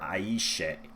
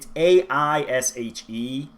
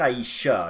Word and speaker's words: Aishe: and the dancing warrior Aishe. I'll be honest, it's A-I-S-H-E. So it's not Aisha, because that's with an A at the end. So I'm going with Aish, but if somebody wants